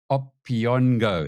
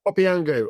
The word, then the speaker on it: Opiango: Uh there is an announcement that you've invested $10 million into a biotech startup called Opiono. Is that how you pronounce it? Opiango. Opiango. Yes.